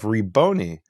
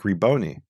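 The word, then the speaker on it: Rabboni: And then in the New Testament, you have Reboni. So that means the first syllable was E, Reboni, right?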